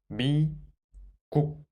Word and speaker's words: 미국: So, 미국, 미국.